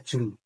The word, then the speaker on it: Djoen: Sebenarnya pengucapannya salah. Jadi itu kan ejaan lama, namanya Jun.